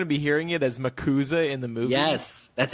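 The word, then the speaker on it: MACUSA: choose to have the Mac USA, or actually she corrects everybody she gives everybody a phonetic pronunciation here and says it's commonly pronounced as Makuza.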